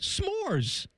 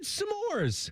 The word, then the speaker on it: s'mores: S'mores. I said samores. Samores. You're putting it another SYLLABLE IN IT THE SAME way you are. NO, YOU'RE NOT. S'MORES. TEDDY. S'MORES. One syllable word.